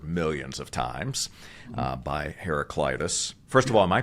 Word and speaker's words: Heraclitus: obviously you've heard millions of times uh by heraclitus first of all am I pronouncing that correctly as far as you know